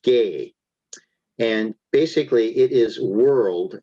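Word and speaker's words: γῆ: so the first word is GE which is pronounced gay and basically it is world as physical land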